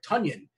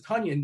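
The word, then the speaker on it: Tonyan: Tunyon. And the reason why we know his name is Tunyon, because somebody tweeted out it rhymes with Funyun, which, by the way,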